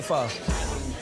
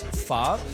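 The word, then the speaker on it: phở: The ancestral dish to pho is pot de pho. The actual pronunciation is pho. So when I explain to people how to say it, I always tell them to shrug their shoulders, like pho.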